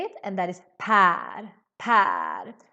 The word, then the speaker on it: Per: So here you need to really make the ä sound. Per, Per. Super important to pronounce this right and not pronounce it like par, because that means something else.